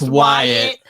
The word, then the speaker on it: Wyatt: divorce, husband white, and she said it's pronounced Wyatt.